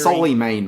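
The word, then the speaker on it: Souleymane: Okay, Suleiman's story is how it's pronounced, not whatever you said at the start of the show.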